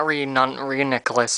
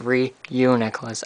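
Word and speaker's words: Reuniclus: three one two yeah it's really uniqlous not renon nicholas or something there's a u there it's re you necklace anyway venipede darumaka blitzel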